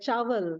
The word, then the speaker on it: chaul: know and sugandh chaul it is said like Chael you know rice from